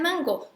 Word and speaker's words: mango: Digan mango. Aunque se escribe M-N-G-O, la lengua no la ponen en el paladar, la ponen en la garganta.